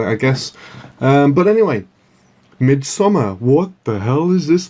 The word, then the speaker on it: Midsommar: Welcome to my film review of Midsommar. So it's not summer, it's sommer. Doesn't really matter how you spell it, I guess. But anyway, Midsommar.